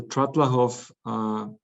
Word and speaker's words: Trattlerhof: The Trattlerhof is the, so to speak, historic guest house that has been developed to Hotel GUT Trattlerhof and Chalets.